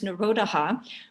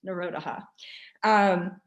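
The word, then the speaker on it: निरोध: the next word is narodaha which um um phonetically well it's it's n-i-r-o-d-h-a and then there's like an h that makes a ha at the end narodaha is cessation or stopping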